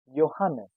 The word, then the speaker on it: Johannes: These two names start with J but is pronounced as Y.